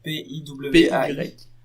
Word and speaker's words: PY: Twitter, @py, mais à la prononce à la française, donc PIWAI.